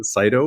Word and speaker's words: Saito: I'm a co-founder of the Saito or the Saito project. Both pronunciations are actually correct.